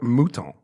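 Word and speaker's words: Mouton: Carter's beach port muton there's no R it's m o t o n muton I'm guessing that's how it's pronounced aout muton yeah muton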